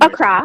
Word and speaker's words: Accra: I think I've been Accra. mispronouncing. Accra, Accra.